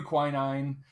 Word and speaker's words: quinine: country you're talking about they have different pronunciations the British is winning but we do quinine anyways so quinine was